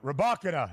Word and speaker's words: Rybakina: Yeah, Rybakina is what we're looking for here.